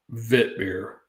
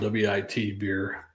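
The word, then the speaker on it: witbier: out like it's spelled wi T beer wit beer but I think it's pronounced vit with the w being pronounced as a v in German vit b or some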